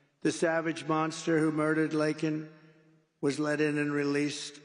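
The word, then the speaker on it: Laken: never call and then he pronounced her name wrong remember he called her Lincoln remember that in Congress he called her Lincoln didn't even have the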